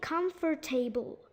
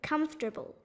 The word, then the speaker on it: comfortable: So some people try to say all 4 syllables: come, for, te, and bull. But all of them aren't really pronounced as they look. They say comfortable, but it's wrong. It's supposed to be comfortable.